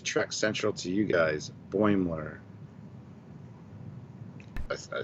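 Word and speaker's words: Boimler: have why does everybody have so much trouble pronouncing boymore from katwowski to track central to you guys boymler i said it right when i said it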